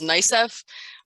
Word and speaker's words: NYSCEF: So one of the tips that we want to give you is that not all cases will appear on, we pronounce this as NYSCEF.